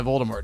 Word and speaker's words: Voldemort: Well, there Rowling, was a reason why Voldemort did it, but... according to J.K. Rowling, Voldemort is pronounced Voldemort.